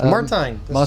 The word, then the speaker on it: Martijn: It's Dan from the Mike James Rock Show, and I've got Martijn. Martijn. That's Martijn. the right pronunciation, yes.